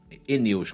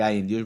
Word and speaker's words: aeneus: Eneus que fala. Eu falei aeneus, mas é eneus que pronuncia.